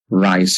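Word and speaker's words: Reye: Okay, this is the famous rice syndrome or just pronounce it as ry syndrome.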